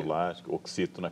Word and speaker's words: Abdullah: Abdullah, oxítona, creio, mas meu árabe é fraco.